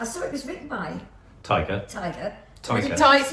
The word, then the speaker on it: Taika: Taika, not Yes. Tiger. You said Taika. Tiger. What is it? Taika. Taika. How do you spell it? Taika. Oh, Taika. Sorry. Have you sorry, been saying Taika. Tiger with TT All all the this time. Oh yeah, no, Taika.